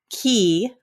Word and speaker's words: qi: know in the book you say key, but it's spelled QI.